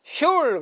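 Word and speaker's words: שול: 그 사람들은 말하기를 회당을 슐 그랬어요. 발음하면 슐이에요.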